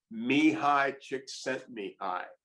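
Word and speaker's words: Csikszentmihalyi: a thousand times and his name is and this is apparently the correct PR pronunciation Mi High chick sent me high and it has about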